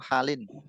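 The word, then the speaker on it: حالٍ: Fi kulli Kulli halin halin ila ba'da zawali. Fi kulli hali atau halin? halin, Halin. Halin. Halin. Ditanwin. Ya. Tanwin.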